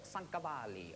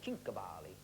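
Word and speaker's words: Cinquevalli: But there was a chap at the turn of the century called Paul Sancavalli or Cincavalli, depends how you say it.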